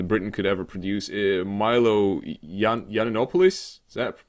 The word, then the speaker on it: Yiannopoulos: And obviously in charge of the tech division is the most tech person Britain could ever produce, Milo Yiannopoulos. Is that correct pronunciation?